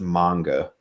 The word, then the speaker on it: manga: You can say manga. I don't give a shit, but it's usually, I believe, it's usually supposed to be pronounced manga.